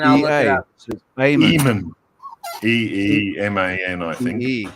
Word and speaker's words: Eamon: So Eamon. E-E-M-A-N, I think. L. Eamon. Yeah. Not Lehman.